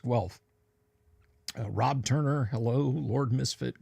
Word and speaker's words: Guelph: Okay, it's pronounced Guelph.